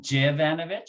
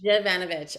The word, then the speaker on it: Zivanovic: So you went Jivanovic? So the Jivanovic. Zivanovic. Okay, thank you. Great. It's important, people, that we pronounce people's last names.